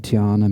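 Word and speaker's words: dhyāna: would be able to achieve what is called diana meditation so that's spelled d-h-y-a-n-a this is this the sanskrit word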